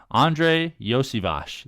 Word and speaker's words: Iosivas: Andre Iosivas.